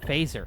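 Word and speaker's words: Feser: If you're interested in a modern theomistic philosopher who's into things like comics, try Edward Fesser. Pronounced Phaser.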